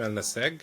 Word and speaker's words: Ennassag: I wanted to introduce Karim which is our guest today and I had problems pronouncing his surname and I want clarification for that please. Yeah. So it's Karim al-Nase.